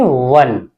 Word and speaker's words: one: इसकी स्पेलिंग है ONE। इसे हम पढ़ेंगे वन।